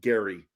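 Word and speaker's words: Gerry: R Y was pronounced Gary. That was the original pronunciation. And then somewhere in the the late 19th and early 20th century, they started giving it a soft G.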